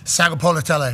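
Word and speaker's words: Sagapolutele: Sagapolotele.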